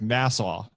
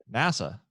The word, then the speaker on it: NASA: right are you saying you say the name of the space agency like the yeah it's New York you said like the county in New York Nassau yeah I do say it wrong what how are you supposed to say it NASA NASA yeah better there you